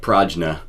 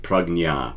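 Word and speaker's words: prajñā: I know it looks like prajna when you see it, but it's actually pronounced prajna, prajna.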